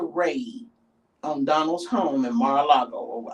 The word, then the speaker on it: Mar-a-Lago: After the raid on Donald's home in Mar-a-Lago, I think that's how you pronounce it, Mar-a-Lago, in Florida, right?